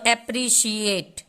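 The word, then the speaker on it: appreciate: उच्चारण नहीं होता है, ई साइलेंट हो जाता है। तो एप्रिशिएट, टी तक ही हमारा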